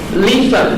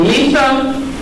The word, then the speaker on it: Lisa: And Mawu is paired with her twin, Lisa, L-I-S-A. And that's in Fon language. And there that represents the male. That's fine. Come on, man. And Lisa is symbolized by the day, the sun, by heat and work, energy.